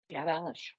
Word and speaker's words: garage: Garage. Gorgeous pronunciation. Notice that one of those G's is hard and one of those G's is soft.